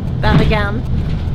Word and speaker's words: Bergen: I want to ask, how do you pronounce the name of the city? Bergen.